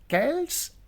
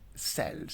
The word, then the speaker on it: Celts: Somewhere people pronounce it as Celts, while somewhere people pronounce it as Celts. So it has two pronunciation, Celts or Celts.